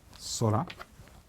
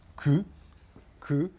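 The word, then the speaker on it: 空: mot tout à l'heure le ciel c'est sola s veut dire le ciel et ça s'écrit avec ce synogramme qui peut-être lu Q Q et qui dans ce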